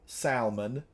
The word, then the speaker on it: salmon: like tuna I like salmon or as we say back home salmon uh we pronounce the L back home we're L pronouncers somebody left oh wait